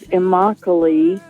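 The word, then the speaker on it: Immokalee: not far from a community called IMI uh which rhymes with broccoli if in case you want to remember it um and um and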